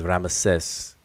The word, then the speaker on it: Ramesses: Ramasu, or the Greek pronunciation is Ramesses, and things like that.